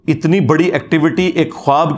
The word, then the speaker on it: ख्वाब: वाव उड़ जाती है इसको पढ़ने का तरीका है ख्वाब ये खवाब नहीं पढ़ा जाता वैसे उर्दू में चल भी जाता है लेकिन ये लफ्ज़ है ख्वाब तो वा उसमें फिर साइलेंट हो जाती है तो यह